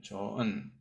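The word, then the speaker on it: 좋은: 이것이 조흔 안 그러죠? 우리는 조은이라고 이야기하죠. 예, 조은.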